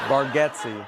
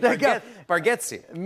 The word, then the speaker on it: Bargatze: Bargatze.